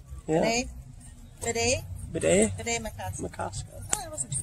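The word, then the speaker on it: Bde Maka Ska: Bidet Makaska area. That's how it's pronounced. Yeah. Bidet? Bidet Makaska.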